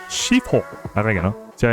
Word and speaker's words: Sifu: En verdad les estaba haciendo el endre para uno de mis roguelikes preferidos de todos los tiempos, Sifu. O como su pronunciación correcta sería Shifu.